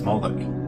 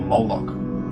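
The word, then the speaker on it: Moloch: The MLK is vocalized as Moolik or Moolok in the Maseretic texts, which is an authoritative text in rabbitic Judaism. It's from this pronunciation that we get the contemporary name Moolok.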